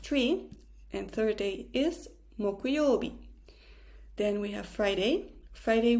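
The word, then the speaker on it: 木曜日: Thursday we write it with the kanji of tree and third day is 木曜日.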